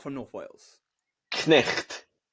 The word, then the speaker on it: Cnicht: So the name itself, what's the accurate way to pronounce it properly if you're not from North Wales? Cnicht. Cnicht.